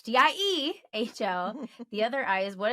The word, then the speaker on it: Diehl: Your I, so my name isn't spelled like Deal, it's Diehl.